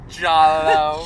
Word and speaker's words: Giallo: Giallo.